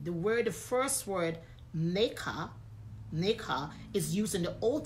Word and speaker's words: Makkeh: The word, the first word, Makkeh, is used in the Old Testament in Genesis